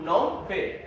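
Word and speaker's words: Phnom Penh: नॉन पे। PS silent है।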